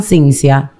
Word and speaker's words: Cinzia: Cintia en italiano ecchinsia como aquí lo leen como se pronuncia me llaman ciencia Exacto lo que pasa es que se pronuncia así pero se escribe así ciencia okay Y te gustó